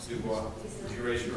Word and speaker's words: Dubois: Boyd, is that how you pronounce that? Dubois. Dubois.